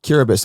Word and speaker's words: Kiribati: was it called curabus curabits and whereabouts is that in the world between Fiji and Hawaii there you go spelled like Kiribati k-i-r-i-b-a-t-i that's um that's a